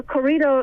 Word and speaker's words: corrido: Well, it's funny because you mentioned the word, the corrido. Am I pronouncing it right again? Corrido? Corrido. Sure. Corrido. That's close enough.